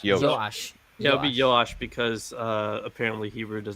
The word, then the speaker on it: Joash: Hebrew versions began with a y sound. Okay. So Jehoiada. Yes. All right. So Jehoiada got Yosh, 2 wives, and Yoash.